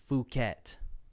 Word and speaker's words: Phuket: you could pronounce that sounds like i'm going to say something inappropriate but i think it's phuket phuket yeah i've heard that